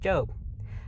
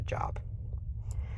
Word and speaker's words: Job: side note job is spelled job but is pronounced job i don't know why but i literally can't listen to a video if they pronounce a job it just irritates me so what is the